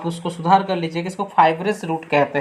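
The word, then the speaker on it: fibrous: तो वही होता है फाइबर रूट्स। तो देखो काफ़ी देर से मैं एक चीज़ ध्यान नहीं दिया था, हम लोग बार बार फाइबर रूट्स बोल रहे हैं इसको, इसका सही प्रोनाउंसिएशन फाइबरस रूट होगा, ठीक है, जो मैं ध्यान नहीं दिया।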